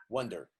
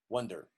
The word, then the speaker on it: wonder: This one is a very small vowel, wonder, wonder, wonder. You don't move your mouth much, wonder.